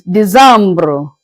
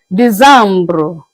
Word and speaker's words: Décembre: It's Décembre. Just use your pen to write, to add the E at the end. December is being pronounced as Décembre, Décembre.